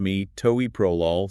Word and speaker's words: Metoprolol: Metoprolol Pronounced Metoprolol Succinate.